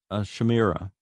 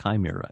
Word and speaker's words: chimera: that i'm a fetal shamira and my twin was a boy i guess it's pronounced chimera isn't it fetal chimera i found out as an adult that i am a fetal chimera 55.